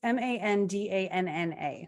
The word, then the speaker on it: Mandanna: Yeah, it's Mandanna. So if I'm mispronouncing that, you can look it up and then find that author anyway.